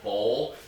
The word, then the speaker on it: bowl: When you say bull, it's a U phonetically, and it's you only move your lower lip. Where you say bowl, you have to move your upper lip out.